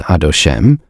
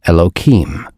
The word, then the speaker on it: Elohim: When the two names are pronounced together yud and he and vav and he is not read as adosm but as elohim.